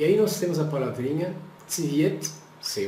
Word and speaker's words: цвет: Então, nós temos aqui a palavra no plural com A, e a gente pronuncia tsivieta.